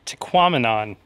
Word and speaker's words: Tahquamenon: it's it's very pretty it's tequaminon it realizes with phenomenon that's how you remember how to say these falls so there's signs up